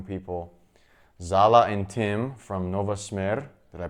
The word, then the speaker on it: Smer: It's itsSeanDaniel here, and we are with some young people, Zala and Tim from Smer. Did I pronounce that right?